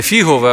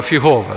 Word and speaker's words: фігове: мові але деякі іноземці наголос ставлять кажуть фігове дерево Да не фігове а фігове да ось і тому Ісус